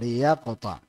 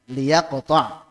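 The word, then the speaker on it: لِيَقْطَعْ: gimana tafad H Hah liyaqta jazakumullah Khairan Ustaz Nah betul liyaqta nanti buat Ustaz ini jadi ibtidanya dengan mengkasrahkan huruf lam ya Li ya kan liyaqta yang tadinya sukun menjadi kasrah wallahuamab sudah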